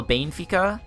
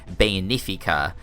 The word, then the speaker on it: Benfica: horde and his SL Benfica I think it's how it's pronounced I know it's only three syllables and that's not Bayon efika which i think is how a lot of people pronounce it so hopefully I got